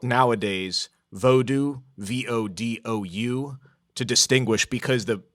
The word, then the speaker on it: Vodou: It's spelt nowadays Vodou, V-O-D-O-U, to distinguish because the voodoo, the way you think it's spelled, sort of has an offensive connotation now.